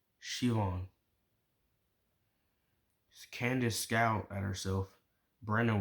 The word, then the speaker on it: Siobhan: "I think it's pronounced Shivon."